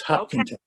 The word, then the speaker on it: Hopkinton: to know, it's called Hopkinton. I cannot say that, Bill. I have a hard I time. think that it's the first syllable is that when you accent, it's Hopkinton.